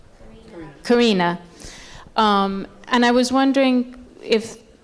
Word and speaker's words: Karina: lot of it paralleled his relationship with Anna Karenina how do you pronounce her name Karina and I was wondering if and I know